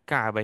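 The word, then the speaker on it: كعبة: হারাম কাফ আইন বাতা কাবা এখানে একটা আইন আছে এখানে আমরা উচ্চারণটা খেয়াল রাখবো কাবা বললে হবে না কাবা একটা আইন আছে মাঝখানে কাবা আল বাইতুল হারাম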